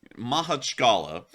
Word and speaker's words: Makhachkala: Sorry, everyone, that name is really hard for me to pronounce. It is actually Makhachkala, an incredibly difficult name to pronounce.